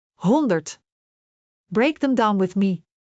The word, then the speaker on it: honderd: Honderd.